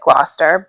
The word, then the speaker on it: Gloucester: It's said like Gloucester, but it's spelled like Glow Chester or Caster.